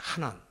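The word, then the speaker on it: חנן: 하난. 조금 더 정확하게 발음하면 하난, 이 가래 끊는 소리 있잖아요. 하난 그래야 되는데, 왜냐하면 이렇게 그 히브리어 단어가 그렇게 되어 있습니다.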